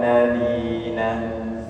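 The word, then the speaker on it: الذين: Siratal ladzi, dza, coba sama-sama dza, ya, seperti mau menggigit ujung lidah kemudian diucapkan dza, zi, tidak tebal, bukan zi ya, itu za, zi, zu, siratal ladzina, siratal ladzina an'amta, nun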